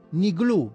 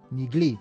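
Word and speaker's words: נגלו: Niglu, vedete come prima c'è una U finale? Niglu, oppure gli ebrei romani questa la pronunciano, la U finale la pronunciano I, Nigli, però vabbè, noi siamo sul sefardita, sul classico.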